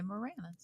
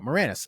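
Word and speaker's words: Maraniss: to pronounce his name m a r a n i SS uh wrote say Moranis yeah there you go Moranis uh Andrew Mor he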